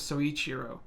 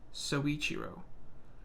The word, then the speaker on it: Soichiro: calling him that but his real name is soichiro so each hero soichiro I mean this is like his last episode